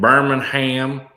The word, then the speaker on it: Birmingham: successful in Birmingham um sorry birming Birmingham yeah there's no G do not pronounce the G silently there is there is a g in Birmingham and it's you killer um